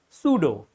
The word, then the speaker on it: pseudo: So, eighth rule says that if there is a P just before S, the P is going to be silent. You are not going to spell the sound of P.